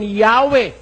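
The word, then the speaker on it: Yahweh: Ito pong Greek interlinear translation of the Holy Scriptures sa kanyang pahina the divine name while inclining to view the pronunciation Yahwe as the more correct We have retained the name Jehovah because of people's familiarity with it since the 14th century.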